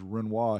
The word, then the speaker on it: Renoir: And I'm trying to remember, it's the Renoir. So some people call it the Renoir, but the way you pronounce his name is Renoir.